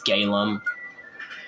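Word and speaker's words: Galeem: to take care of galim galum however you say his name I believe it's galum yeah it's galum because I said Gleim which is the the other guy that I XO he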